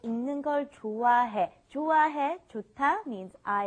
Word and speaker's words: 읽는: Be very careful with the pronunciation. You want to think of it as saying this right here. ing, okay? ing, like ing in English, okay? 읽는 걸, 읽는 걸, 읽는 걸, 읽는 걸.